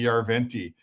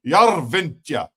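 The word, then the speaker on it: Järventie: It's not just Robbie Yarventi, it's like Robbie Yarventa.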